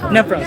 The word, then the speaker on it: Nephros: If people want to like buy this, you just go to the, I'm not going to pronounce that. Nephros, thank you.